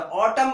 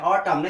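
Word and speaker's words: autumn: जैसे देखिए एम एन, तो ऑटम बोलते हैं, ऑटम ना कि ऑटमन, ऑटमन नहीं बोलते हैं, ऑटम, एन साइलेंट हो।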